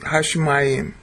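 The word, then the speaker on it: השמים: Okay, there's a dagish inside the sheen. So, Hashemayim. Hashemayim.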